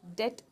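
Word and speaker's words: debt: होना में होना है इसको डेप्थ नहीं प्रोनाउंस करेंगे बी को थोड़ा सा कम प्रोनाउंस करना है साइलेंट है ये डेट प्रोनाउंस करेंगे ठीक है सो बी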